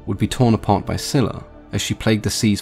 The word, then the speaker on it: Scylla: The version that is most commonly used today in English is Scylla, with a soft sound in C, but as we already know, the soft sound in C replaced the K in many Greek words, and sometimes these words